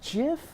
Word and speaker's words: GIF: so it's technically I've heard it's GIF is the right way but I will never say it I'm always going to say GIF because GIF doesn't just sounds like peanut butter I like the hard G like you remember when